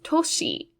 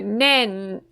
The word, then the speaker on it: 年: is men meaning year the other reading it has is toshi so either nen or toshi so this is the